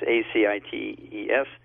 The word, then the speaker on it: ascites: high fat diet and the ascites is pronounced ACI tes goes away it could